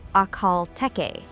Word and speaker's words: Akhal-Teke: We are talking about the Akal Te pronounced Akal Te, the national emblem of Turk Menistan and the oldest horse breed still existing in its pure form.